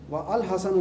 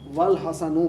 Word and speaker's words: والحسن: چنانچہ وہ الحسن لکھنا اور پڑھنا غلط ہوگا بلکہ یہ اس طرح والحسن پڑھا جائے گا, والحسن لکھا اور پڑھا جائے گا.